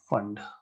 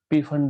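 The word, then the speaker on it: Pfund: Then that is called as fund. Fund, fund जैसे भी pronounce करो, P fund भी बोलते हैं इसको, ठीक है.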